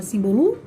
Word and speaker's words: símbolo: Símbolo, a gente fala símbolo? A gente fala simbolo? Ou a gente fala símbolo? Tá no símbolo, tá no sim, né?